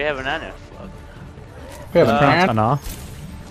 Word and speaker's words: Ana: We have an Ana. It's pronounced Ana. Fucking Ana. There's no O.